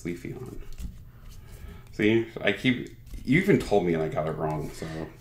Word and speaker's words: Leafeon: No, it's not even Leaf Felon, it's Leafeon.